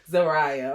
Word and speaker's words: Zariah: says she told me it's pronounced Maria with a Z in front, if that helps. Like Zaria? That's what I was thinking, but the way her parents said it on the show last time, I didn't catch it, but I was like, oh, I'm definitely saying it wrong. After I heard, I think it was her father, her mother said her name, I said, I'm definitely saying it wrong. Zariah, okay.